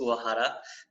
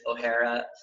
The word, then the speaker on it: Uohara: So the true Japanese way of saying it is Uohara, but a lot of people kind of blend it with an Irish pronunciation. Yeah. So it's like O'Hara, but any way that you want. Uohara seems to be the easiest.